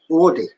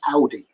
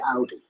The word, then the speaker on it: Audi: audi they all say woody and i mean a german person has actually said to me no it's audi it is it is pronounced how even german people pronounce it audi um but yeah everyone